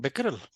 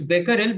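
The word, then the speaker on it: Becquerel: not quite hurry oh it's not beerel it's Beckel but did you say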